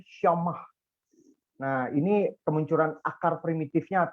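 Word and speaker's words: שמע: Transliterasinya dibacanya syama, pengucapannya syamah.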